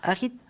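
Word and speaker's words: arithmomancie: Arithtomancie. Oui, arithtomancie, ça se prononce comme ça, qui est la mancie, donc l'art divinatoire par les chiffres.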